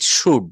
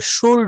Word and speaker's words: should: শুড মানে হচ্ছে উচিত, শুড, হ্যাঁ, SHOULD, এখানে এল কিন্তু সাইলেন্ট থাকবে, শুল্ড হবে না, শুল্ড হবে না। হ্যাঁ হ্যাঁ, বলতে হবে শুড, শুড, শুড, শুড নট, শুড, শুড নট, শুড, শুড নট, শুড, শুড নট।